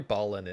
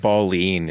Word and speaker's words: Balin: so forgive me uh every time I hear ball in I think of a dude for some reason I know that's wrong but all right I'm closing it up it's pronounced balling in Dwarven ah ah okay it's trickery all